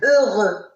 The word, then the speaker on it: heureux: La lettre X reste muette à la fin des mots qui se terminent par EUX. Exemple, heureux, honteux aussi. D'accord? Là, ces mots-là se terminent par EUX, donc on ne prononce pas la lettre X.